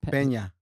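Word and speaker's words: Peña: Bradley, Michael Pena. Yeah. Bradley Cooper. Am I pronouncing his name right? Pena.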